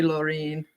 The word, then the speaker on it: Laureen: new link honey my name is pronounced like Maureen but with an l so sorry Laureen so sorry yeah it's